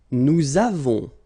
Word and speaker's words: nous avons: Nous avons, so you can put this little liaison, link between the two.